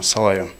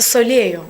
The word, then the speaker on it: Solayoh: И почему была выбрана именно эта песня «Салаю»? Я бы хотела, конечно же, сказать, что вы неправильно произносите ее. Как? Песня называется «Солею». «Солею».